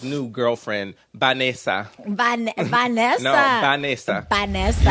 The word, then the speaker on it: Vanessa: No, Vanessa. Vanessa. You gotta say it like Spanish. Say it, Vanessa.